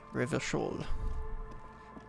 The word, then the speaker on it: Revachol: Always pronounce Revachol with a front. Revachol.